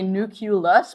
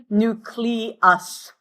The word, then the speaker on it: nucleus: People have a tendency to say nucleus, but that's not it. Nucleus.